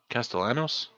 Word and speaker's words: Castellanos: hold on no Journal of Sebastian okay Castel Castellanos I think that's how you spell pronounce it alright finally got my gold badge